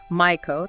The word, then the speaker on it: Maiko: Geisha is G-A-Y-sha, Maiko, that's M-Y-koh.